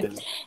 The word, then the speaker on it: Bechdel: personnage féminin ait une interaction avec, ça se prononce Bechdel, on me dit à l'oreille. Bechdel.